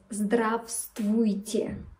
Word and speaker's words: Здравствуйте: Please note that we don't pronounce one letter in this word. That's the first letter V. V. So we don't pronounce Здравствуйте. We say Здравствуйте.